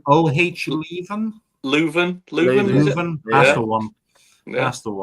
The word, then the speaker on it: Leuven: pronunciation. O-H Leuven? Leuven.